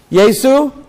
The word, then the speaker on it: Yesu: So therefore, let me ask Sister Eunice, how is Jesus Christ pronounced in Swahili? Yesu?